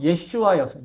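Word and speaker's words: ישוע: 여러분 우리는 예수라고 발음하지만 이게 애초에 아라머 히브리어로 예슈아였어. 예슈아.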